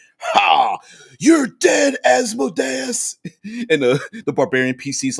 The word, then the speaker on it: Asmodeus: Mike says, I pronounce Asmodeus in the manner like Amadeus.